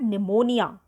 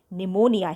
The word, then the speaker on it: pneumonia: in november she had pneumonia the pronunciation of p n pneumonia here p is silent she would lie in